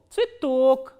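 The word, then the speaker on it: цветок: t, o, k, and the stress is on o. So, how will you pronounce this word? This ye will be reduced. You have to keep that in mind. So, this ye will be pronounced as e, tsui and tok, tsitok.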